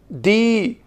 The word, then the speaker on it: the: इसका third pronunciation है, आप लिखिए DEE, यानी दी। इसे एम्फेसाइज करके बोलना है। इसे हम कब बोलते हैं? आप लिखिए we pronunciate THE एज दी before superlative degree of adjective and before antecedent of relative pronoun.